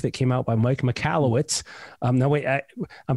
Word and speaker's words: Michalowicz: is a book that came out by mike michalowicz um that way i i'm probably mispronouncing that because you said it's michalowicz there you go that is an absolutely revolutionary